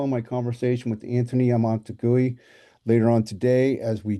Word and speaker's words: Amunategui: I'm the host, and we have Anthony Amunategui. Is that pronounced correctly? Amunategui, but close enough.